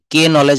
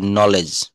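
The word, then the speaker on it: knowledge: কে নলেজ আমরা কেউ বলি না। আমরা এন থেকে শুরু করি নলেজ। তো শব্দের শুরুতে কে এন যদি একসঙ্গে থাকে। তো কে অনুচ্চারিত থাকবে।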